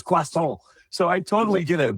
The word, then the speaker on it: croissant: I got to say croissant because I had 3 years of French, and that's how you say it. It's croissant.